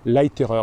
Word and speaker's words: Leiterer: un jeune neuroscientifique qui s'appelle Rupert Larriman, ça s'écrit L-A-I-T-E-R-E, Leiterer, ça veut dire, voilà, Leiterer, il est de Salzbourg, voilà, il est de Salzbourg.